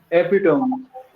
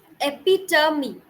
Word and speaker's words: epitome: Can you pronounce this one? Epitome. Epitome.